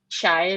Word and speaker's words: Shai: today our focus is actually on your book, do I pronounce it correctly? Shia Learns? Shia Learns. Shai Learns.